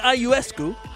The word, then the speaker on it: Ionescu: Whether you want to select Sabrina Ionescu, that's how you say it, right?